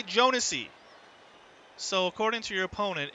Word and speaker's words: Jounisii: He says it's Jounisii, 4 syllables. Jounisii is correct? Okay. The J is very light.